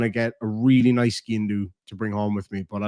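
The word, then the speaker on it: sgian-dubh: So skin do, or as we would pronounce it in this part of Ireland, is skin dove. I think in Scotland they would be more likely to say skin do.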